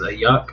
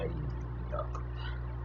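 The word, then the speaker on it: Aiyuk: not sure who said it, but it was Ayuk. I think that's how you pronounce his name. He's 5,800. Let me see if I can find him. I can't find him. Ayuk. That's how I pronounce it. Ayuk.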